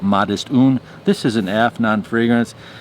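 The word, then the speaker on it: Modest Une: It's called Modest One. It's spelled in French, so they call it Modest Un.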